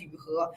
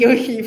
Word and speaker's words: Yu He: was saying my name's Yu He, and they were like, "Huh?" it's like yoo-hoo, but with like a fun little ugh to it.